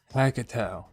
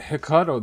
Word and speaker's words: Hackatao: So that's how you pronounce his name, Hackatao. I was pronouncing it Hackatao this whole time.